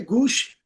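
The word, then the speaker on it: گوش: अच्छा जी, ये तो हो गया मामला गूश का। ये गूश, उनका जो स्टैंडर्ड प्रोनाउंसिएशन है वो है, हमारे यहाँ गोश कहा जाता है इसको, खरगोश, like, but इट is actually खरगोश।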